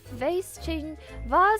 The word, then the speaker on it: vase: I think case only ever has a long A sound, but vase changes pronunciation depending on how fancy you want to be.